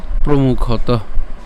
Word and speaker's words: প্রমুখতঃ: এরপর দ্রোণ প্রমুখতঃ, কেন তহ? কারণ এখানে কি আছে, বিসর্গ আছে, আর বিসর্গ থাকলে আমরা কি করি, উষ্ম ছাড়ি, হ্যাঁ, অর্থাৎ মুখে যে গরম বাতাস রয়েছে সে গরম বাতাস আমরা ছেড়ে দিচ্ছি।